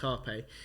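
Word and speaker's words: rapé: to spell rape but it's called Harpe it's pronounced Harpe and when I researched it I thought it's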